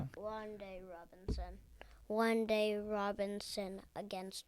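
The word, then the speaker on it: Wan'Dale: And I'm picking One Day Robinson is how you said it over Darnell Mooney.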